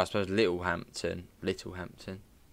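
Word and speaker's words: Littlehampton: well as little Hampton little Hampton silent t uh yeah again it's a little Hampton which I suppose is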